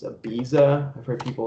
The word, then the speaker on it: Ibiza: even know they're not right right way to pronounce it it's ibiza i've heard people like use a list yeah